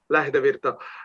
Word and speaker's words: Lähdevirta: Finnish, like your name, Lähdevirta. And people usually don't accentuate the words and the first syllable and the names.